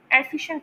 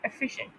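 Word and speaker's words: efficient: एंड फे एफिशिएंट फे तो इसमें जो फे साउंड है ना इस पर जोर पड़ता है।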